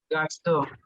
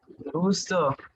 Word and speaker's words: gusto: So this one, Gasto. no, it's a U, not A. Okay. Gusto.